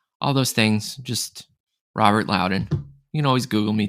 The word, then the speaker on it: Lowdon: just spell it because my last name sounds different than it's spelled so it's r-o-b-e-r-t-l-o-w d-o-n